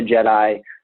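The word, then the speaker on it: Djed: in nature, and it comes from the root word Jed, and Jed is spelled D-J-E-D.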